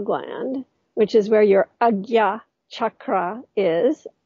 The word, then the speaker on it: Ajna: It's the place within the physiology, let's say the area of the pineal gland, which is where your Agya chakra is. Ajna is pronounced Agya.